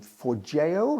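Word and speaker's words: Forgejo: um for JO I believe is the right way to pronounce it.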